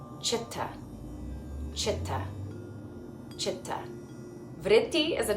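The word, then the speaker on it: चित्त: Because all C's are pronounced ch. Chitta.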